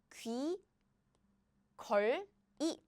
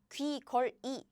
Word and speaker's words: 귀걸이: Yes, if you read these letters, this syllable, each syllable, then the pronunciation is 귀, 걸, 이, 귀, 걸, 이. But again, nobody pronounced that way in Korea. How do you pronounce it? It's simple. 짜잔. You see the placeholder, right? They are combined like this. It goes here, as in 귀, 거, 리. So it replaces the pronunciation.